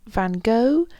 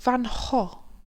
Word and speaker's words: Van Gogh: a variety of choices from different regions from Van go to vanov to vano but it's apparently supposed to be pronounced vanho Van van H I think I'm going to